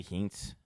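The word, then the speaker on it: Hintz: Um Um Rupe Heights or Hints, however you say his name. Hints. I say Hints.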